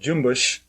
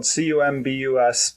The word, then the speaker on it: Cumbuş: Yeah, it's made by a company out of Turkey called Cumbuş. It's spelled Cumbus, but you say Cumbuş. Okay. And so Les called it the Jim Bush.